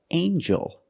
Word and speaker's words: angel: have with El angel in this word the G makes a j sound like jump and Juice together with the n a regular n Sound not the nasal um but the regular n Ain Joel Angel this is an angel